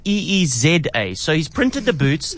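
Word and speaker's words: Eeza: I said, listen, Frank, you don't spell it E-E-S-A. It's E-E-Z-A.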